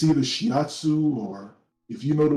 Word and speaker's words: shiatsu: massage i believe it's called i can never pronounce this right it's either shiatsu or if you know the words you can